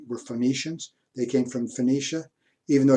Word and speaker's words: Phoenicia: They came from Phoenicia, even though you and I pronounce the Phoenicia with a F sound.